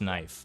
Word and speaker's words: knife: They got too lazy to pronounce the K in knife, and so now it's just knife.